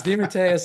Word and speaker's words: DeMatteis: grandparents were from and the way they pronounced it was even slightly different. They pronounced it dim with just like one long, you know, as opposed to the and I said I'm not changing it again.